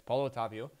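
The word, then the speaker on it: Paulo Otávio: like 500k uh you get a link with paulo otavio is that how you say it yes paulo otavio uh claibor obviously you won't play off chem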